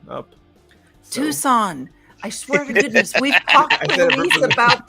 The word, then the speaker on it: Tucson: and and one nil uh jared's neighbor there tucson up tucson i swear to goodness about the sea this knee is silent but he's but he says it